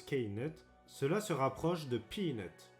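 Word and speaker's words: Knut: Ou si l'on se retourne du côté de JK, qui, via Pottermore, nous révèle que cela se prononce K-nut, cela se rapproche de peanut, cacahuète.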